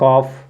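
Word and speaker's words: calf: देखिए यहां पर यहां पर क्या है ल साइलेंट हो जाएगा तो इसको पढ़ेंगे कफ क्या पढ़ेंगे सॉरी कफ कफ कफ मींस क्या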